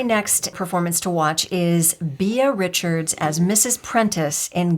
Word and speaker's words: Beah: It was only after much research that I realized it's BEAH.